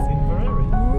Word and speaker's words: Inveraray: Is that how you pronounce it? It is. Inveraray.